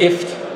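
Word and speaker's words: IFTTT: Mit IFT. Schon mal gehört? Also wird tatsächlich so ausgesprochen.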